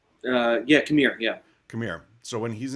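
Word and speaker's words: Qimir: How do you pronounce Manny Jacinto's name? Kamir? Kamir, yeah.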